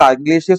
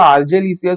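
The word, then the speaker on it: argillaceous: है, एक आर्गिलेशियस मटेरियल, आर्गिलेशियस बोलो या आर्जेलिशियस बोलो, दोनों एक ही बात होती है, प्रोनाउंसिएशन का डिफरेंस है। कुछ कुछ टीचर हमारे थे जो आर्जेलिशियस बोलते थे, कुछ कुछ आर्गिलेशियस बोलते थे, तो जो भी बोल सकते हो।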